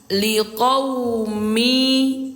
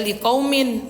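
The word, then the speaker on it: لِقَوْمٍ: Jadi bunyinya liquumi mi bukan lagi dibaca min teman-teman ya. Bukan dibaca liqaumin bukan. Karena sudah dilebur kemari bacanya menjadi mi gitu.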